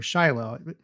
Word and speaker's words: Shiloh: The tabernacle went to uh Shilo or Shiloh. Whenever I hear Jews pronouncing it, they say Shilo.